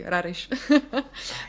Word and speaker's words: Raresh: I agree with Raresh, actually. That's how you pronounce, by the way, Raresh.